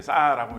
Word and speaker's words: SAR: SAR을 이제 싸라고 읽는 거거든요.